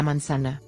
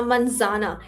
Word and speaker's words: manzana: La mansana. La manzana.